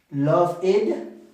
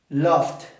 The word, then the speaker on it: loved: Love it. ¿Qué sería esta? Incorrecta también. Loved. Loved con la T, que también es incorrecto. Y loved con la D. Si se dan cuenta, suena muy parecido.